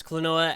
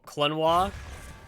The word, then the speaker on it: Klonoa: Mentally, I pronounce Klonoa as though it rhymes with quinoa, so...